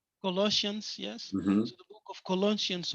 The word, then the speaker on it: Colossians: book of colon how do you say that colloids colossians yes the book of colossians 1 first 15 and 16.